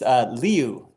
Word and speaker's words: Liu: It's Liu, Liu, Liu.